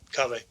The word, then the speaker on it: Kaveh: Yep, Kaveh.